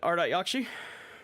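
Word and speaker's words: Ardat-Yakshi: this will be good let me hear the pronunciation what art yakshi oh you did it you got it you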